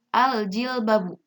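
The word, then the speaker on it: الجِلْبَابُ: Lamnya harus berharokat sukun dan menghadapi huruf qamariyah yaitu contohnya jim. Jadi dibacanya al-jilbabu.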